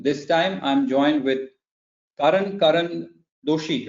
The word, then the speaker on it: Karan Doshi: This time I'm joined with Karan Doshi, right? If I've pronounced it right.